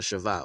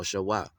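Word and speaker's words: shva: And then the small little stick with the two dots underneath, okay, that's a shavah, as they call it, shavah or shawah.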